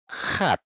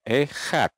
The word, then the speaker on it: Echad: Dia nggak bilang Yahweh Echad, tapi dia bilang Yahweh Chad, Yahweh Chad. Nah, ini kalau Echad itu artinya satu. Kalau Echad itu artinya Esa. Tapi kalau Chad itu artinya tajam. Jadi kalau dia bilang Yahweh Chad, itu artinya Yahweh tajam.